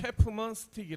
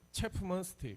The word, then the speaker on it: 채프먼스틱: Keith Kim: It is called Chapman Stick In Korean, it pronounce as Chapumern Stick The host: How do you say in Korean again? Keith Kim: Chapumern Stick The Host: In English?